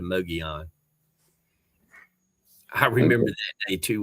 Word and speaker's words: Mogollon: for a couple of days and I called Moggs Mongolian instead of Mogollon.